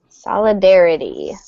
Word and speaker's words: solidarity: Solidarity.